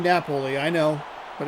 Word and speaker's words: Napoli: He pronounces his name Napoli.